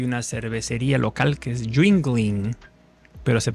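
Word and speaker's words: Yuengling: El autor es se llama Owen Jingling y me da me da risa porque hay una cervecería local que es jingling, pero se pronuncia así, jingling.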